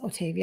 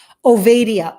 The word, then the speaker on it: Ovadia: Otavia. I want to say it right so you guys can look him up. Go look him up on Instagram. Ovadia, Ovadia, Dr. Philip Ovadia.